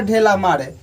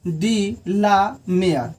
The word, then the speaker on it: de la Mare: R इस रे, alter ढेला मारे। लेकिन ये गलती वर्ड हो जाएगा, ठीक है। ये प्रोनाउंसिएशन में ये गलत हो जाएगा। ये ओरिजिनल में है वाल्टर डी ला मेयर।